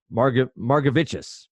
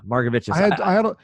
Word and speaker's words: Margevicius: I'm gonna forget how to pronounce his name. It's gonna haunt me. Margevicius. There you go. There you go. Margevicius.